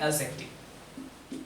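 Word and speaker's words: adjective: और तीसरा हम लोग जान ही रहे हैं कि क्या लिखने वाले हैं, एडजेक्टिव। इसमें डी को साइलेंट करके पढ़ना बेहतर होगा।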